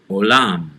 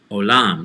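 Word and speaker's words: עולם: olam or universe is olam olam so we have a consonant which is ein which is silent and then a vowel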